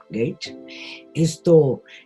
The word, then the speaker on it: Gage: Pero también hay un viajero inglés que se llama Thomas Gage, y se escribe G-A-G, Gage, que cuenta cómo fue que se dio ese